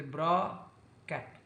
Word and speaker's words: bra-ket: This English word bra-ket, don't speak C. C is silent, you can say. You say bra, and you speak this way, bra-ket.